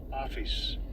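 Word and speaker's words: ὄφις: Strongs G 3789 office ais like office with a with a with a um a accent ais.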